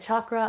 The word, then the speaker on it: chakra: It's a different letter that we don't have in English, and it presumes a hard CH sound. So if you hear me pronouncing it chakra, I'm just letting you know I learned this from my teachers.